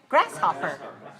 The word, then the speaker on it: grasshopper: and you have six legs you are a grasshopper got it okay so be careful don't say